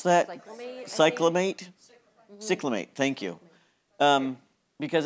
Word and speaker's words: cyclamate: we see something band um I can't even pronounce that Cate cyclamate camate thank you um because it's a non